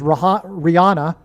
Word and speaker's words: Rihanna: So the news came out on 8/8, the day of the Lahaina fire, and she is Rihanna, which rhymes with Lahaina.